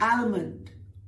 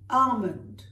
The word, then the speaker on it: almond: Almond, it's not almond, almond.